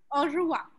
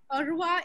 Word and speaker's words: au revoir: It's not easy. Au revoir. Yes, au revoir. Au revoir. Au revoir. Au revoir. Au revoir. Au revoir is goodbye. And yes, it's a tough one.